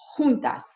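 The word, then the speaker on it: Xuntas: Juntas. That's the way my business is pronounced. Juntas. It is spelled X-U-N-T-A-S, and it is pronounced juntas, which is the Spanish word for she gathers.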